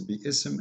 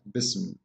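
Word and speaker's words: بسم: But the fact it is there, if you want to say the word correctly, it is bi-ism, not bism.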